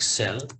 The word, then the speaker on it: cell: How do you enter text in the cell of it is not shell, it should be rather like cell.